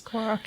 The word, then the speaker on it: Korok: I think I'm going to butcher the pronunciation, the Korok seeds, I guess? Korok, yeah.